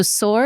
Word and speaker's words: Saor: Yeah, so SOAR is spelled SAOR. Yes. So SOAR, that's the Gaelic term. The translation is really to be free. And so we took the spelling of the Gaelic, we're not pronouncing it right.